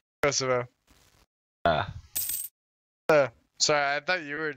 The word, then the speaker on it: Kosovo: How's it actually pronounced? Kosovo.